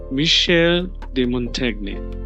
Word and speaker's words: Michel de Montaigne: Like I said, French is a beautiful language, but the pronunciation is something that we need to learn. So it's Michel de Montaigne. Michel de Montaigne.